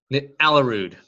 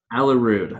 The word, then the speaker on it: Aalerud: and how do you say your last name alla rude alla rude okay yes don't worry no one knows how